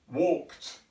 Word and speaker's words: walked: to perform this sound if you imagine Saint T as in a cup of tea tea but now try and say tea without using your breath or your chest so most as if you are able to disconnect the head and the body you would say you can try it this will enable you to pronounce walked walked this would also